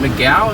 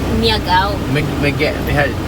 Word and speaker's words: Miagao: So we're going to the University of Philippines, and I guess they call it, is it Miguel? Is that how you pronounce it? Miagao. Okay, so that's, I can't pronounce it, so.